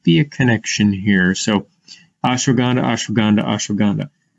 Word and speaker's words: ashwagandha: a connection here so ashwagandha ashwagandha ashwagandha now the w could also be pronounced as a v so if you're working with patients of indian descent you might want to pronounce it as ashwagandha or else they might